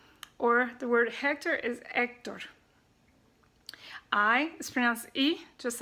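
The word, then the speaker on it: Héctor: twins that's the G H is silent so you don't pronounce that so for example the word honduras in english is under desk in spanish or the word Hector is actor I as friends II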